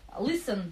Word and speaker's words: listen: Listen, буква Т не читается.